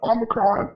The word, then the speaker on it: Omicron: So I googled how to pronounce Omicron, and that is how it's pronounced, Omicron.